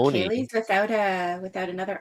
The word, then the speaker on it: ceilidh: there's Ceili and Ceilidh, both pronounced Kaylee, I'm pretty Yeah.